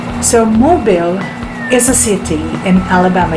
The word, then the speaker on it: Mobile: a capital letter this is pronounced differently it's pronounced as mobile so mobile is a city in alabama usa let's proceed